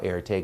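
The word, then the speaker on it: Erté: So they began calling him by his initials, R and T. And for those of you who have taken French 101, how do we pronounce that in French? R. And that is how Erte got his name.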